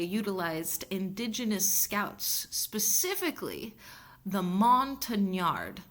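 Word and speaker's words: Montagnard: The CIA utilized indigenous scouts, specifically the Montenard. I may be pronouncing that wrong. It's M O N T A G N A R D which I believe is Monard tribes people who were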